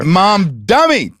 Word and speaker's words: Mamdani: York City mayor, Auron Mamdani. Okay. Are you mispronouncing that by somehow? I'm not sure. Mamdani. That's the right way. That's how we say it in the South.